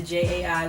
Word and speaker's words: Jai: little research and then the jai was born you know pronounced the same way and then my middle